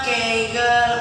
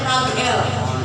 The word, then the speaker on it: Kegel: Namanya Kegel ondol. Apa Bapak Asmat namanya? Bacanya Kegel, tapi tulisannya Kagel. Jangan Bapak Asmat nanti bacanya Kagel. Dibacanya Kegel.